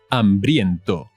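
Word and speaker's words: hambriento: en dos dias estoy ambriento ambriento again the age on strike the well illuminated easy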